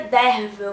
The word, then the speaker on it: Derfel: O livro é narrado em primeira pessoa, em forma de relato, pelo monge Derfel, que se pronuncia Dervel, mas como eu me acostumei a chamá-lo de Derfel enquanto eu estava lendo o livro, eu vou me referir a ele assim.